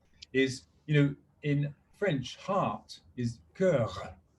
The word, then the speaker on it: cœur: And what I said to him, because I can't pronounce the r, is, in French, heart is cœur, cœur. You have to pronounce the r, Mm.